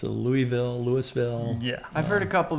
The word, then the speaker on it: Louisville: yeah, and it's Louisville in general.